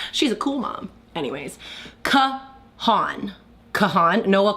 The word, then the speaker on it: Kahan: Anyways, Kahan, Noah Kahan. Yes, thank you, Marissa, for helping me pronounce it.